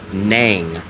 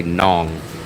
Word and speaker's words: Nang: But all I'm just trying to confirm is people try to tell me it's nang, not nong. I say it the way that rhymes with Hong Kong. So, I think it's d nong nong. But other people will say nang. And no locals that I know call it nang. They don't say nang. They say nong. Like rhymes with kong.